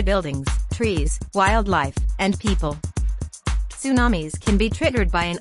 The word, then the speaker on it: tsunami: What is a tsunami? The Japanese word tsunami, pronounced soo-NAH-mee, means harbor wave.